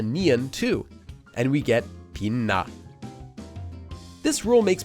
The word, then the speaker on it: 빛나: So for this word, the 치읓 changes and becomes a nian too, and we get 빛나. This rule makes pronouncing words like this possible.